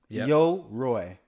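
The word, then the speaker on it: Yoroi: Before we move on to Cardano Summit, Yo-Roi. That is how you pronounce the wallet.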